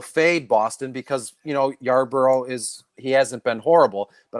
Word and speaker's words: Yarbrough: Is Ryan Yardbird? No, Yarbrough.